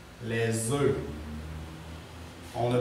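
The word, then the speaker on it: œufs: les côtes levever les ufs les ufs on ne prononce pas on ne prononce pas le F et le S les U les les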